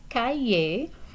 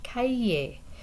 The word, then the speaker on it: cahier: Cahier, cahier. The H is silent here, so you're really blending together two vowel sounds. So aïe, cahier.